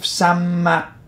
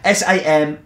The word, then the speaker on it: Samaipata: The reason I got the notes was that El Fuerte is named after the fort of Samipata. Yeah, I can't pronounce it, can I? Samaipata, which is a unique fort that was built